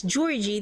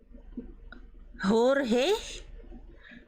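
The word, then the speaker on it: Jorji: So it's Georgie. They actually pronounce the J as J and not because usually the J in a H would indicate that it's kind of like Spanish. So it would be Jorge.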